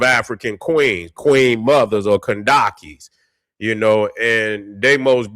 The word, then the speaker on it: Kandake: So, it is pronounced uh Kandake. And in the Bible they were referred to as the Candace queens.